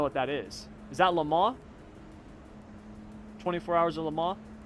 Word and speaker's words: Le Mans: it wrong 24 hours i used to call it the 24 hours of le mans people used to get so mad at me they're like it's le mans i'm like i don't